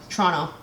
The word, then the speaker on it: Toronto: aren't you I am don't pronounce the second T though Toronto say it with me